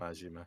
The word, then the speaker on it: Majima: Is that how you say his name, Majima? Yeah. Majima.